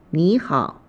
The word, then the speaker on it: 你好: When a third tone is followed by another third tone, the former is pronounced as the second tone.